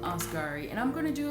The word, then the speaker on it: Asghari: at her fiance uh sam askari i think that's how his last name is pronounced sam osgari and i'm going to